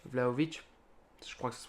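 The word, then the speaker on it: Vlahović: même perdu Chesny on a quand même du valovic vlaovic je crois que ça se prononce comme ça valovic vlaovic pardon vlaovic qui est qui est très bon qui est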